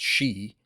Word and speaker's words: Sidhe: It's Sidhe, and I believe it's pronounced she.